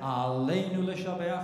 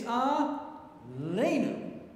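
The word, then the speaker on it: עלינו: all know the prayer Al right so that word ALU is it's not Al it's a lenu okay so there's two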